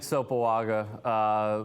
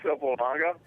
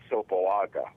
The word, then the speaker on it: Sopoaga: Because everybody that covers the league pronounces his name Sopoaga, okay? Okay. In Samoan, that's not the way it's pronounced. Imagine there's an N before the G.